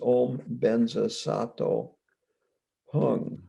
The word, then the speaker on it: Om Benza Sato Hung: The short Vajrasattva mantra with the Tibetan pronunciation is Om Benza Sato Hung.